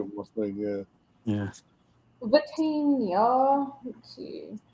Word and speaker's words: Vitinha: Vitinha. Let's see. I always thought they were saying Patino, but it's not it.